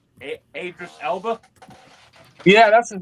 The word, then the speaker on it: Idris Elba: Idris Elba?